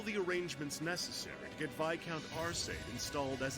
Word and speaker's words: Viscount: Thankfully, Viscount, that's how you say it. Viscount.